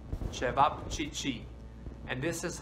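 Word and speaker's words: ćevapčići: you think what yeah this is how you spell it and this is i know a tongue breaker try to say chevap chichi and this is how they made served and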